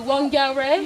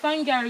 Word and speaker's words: Whangarei: Yeah, with my sister we were saying like Whangarei. Yeah, Whangarei. And then we realized no, it's Whangarei because the WH is F.